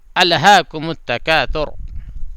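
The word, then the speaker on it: أَلْهَاكُمُ التَّكَاثُرُ: میں یہ ثا ہے، ثا کو ذرا تلفظ کرنا ہے، کیونکہ ثا کا تلفظ بہت سے لوگوں کو صحیح نہیں ہوتا ہے، تو ذرا اس پہ دھیان دینا۔ تکاثر تکاثر، الہاکم التکاثر۔ اس کے بعد ہے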